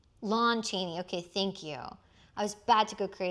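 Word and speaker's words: Lon Chaney: Is it Lou Cheney or Lom? I thought it was Lom. Lawn Cheney.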